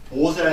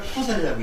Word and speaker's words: 포살: 이 포살이라는 거는 대중 앞에서 자기의 죄를 말하고 참여하는 걸 포살이라고 그러는데 이때는 보살이 아니라 포살이라고 읽어요.